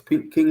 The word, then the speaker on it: KVNG: So it's King Lego Publications, and King is spelled KVNG.